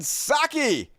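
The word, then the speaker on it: Psaki: Heroes folks uh Jen saki has debuted her new show inside with jinsaki it's not your best name Saki I think the p is silent and uh had a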